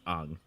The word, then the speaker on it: Aang: to like things phonetically, Aang would be pronounced Ang in the original language.